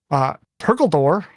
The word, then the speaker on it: Perkledor: Kimbo, Millsy, Zove, Sunrise, and Perkledor, which I had to read like Dumbledore in my head to remember how to say it right, is the coach there.